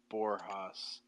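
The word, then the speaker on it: Borges: that you're thinking of for them Jorge Louise borjas it's spelled Borgeous I always say just b-o-r-g-e-s right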